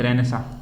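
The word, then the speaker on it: Renaissance: होती है ध्यान रखना इसकी प्रशन क्या है रेनेसा रेनेसा ऐसे ठीक है तो रेनेसा रेनेसा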